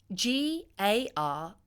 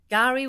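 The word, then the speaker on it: K'gari: Mark the historic day it's spelled k apostrophe g a r i but you'll hear it being said with a silent k gar Gary will now appear on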